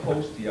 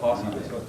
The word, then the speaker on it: Hosty: But yeah, by the way, it is pronounced Hosty. I used to call it Hosty.